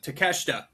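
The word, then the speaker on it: Takeshita: Is it Takoshida or Teida? Uh, teesha. It's spelled like to take a shitta.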